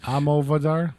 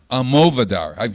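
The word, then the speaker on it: Almodóvar: You know, he's in a movie called Pain and Glory, where it's about Pedro Almodovar. How do you say that name? Almodovar? Almodovar.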